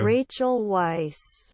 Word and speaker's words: Rachel Weisz: I had to look up Rachel Weisz pronunciation, which for the Had record sounds like had this. to. Rachel Weisz.